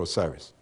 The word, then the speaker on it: Osiris: Wizir is the correct term for Osiris.